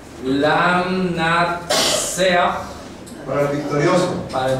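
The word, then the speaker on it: לַמְנַצֵּחַ: Bien, voy a copiar las tres palabras, la pronunciación en hebreo. Lam Natsea.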